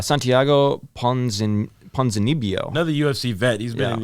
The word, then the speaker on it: Santiago Ponzinibbio: Santiago Ponzinibbio.